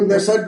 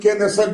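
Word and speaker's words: Knesset: বক্তৃতা দিয়েছিলেন ইসরাইলের পার্লামেন্টকে কেউ নেসেট বলেন কেউ কে নেসেট বলেন নানাভাবে উচ্চারণ করা হয় ইসরাইলের পার্লামেন্টে গিয়ে তিনি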